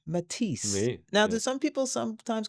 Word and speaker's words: Mathis: I see. Hey. Uh or I've had Matias or Matias. I see. Uh, but but it's pronounced Matis like the artist.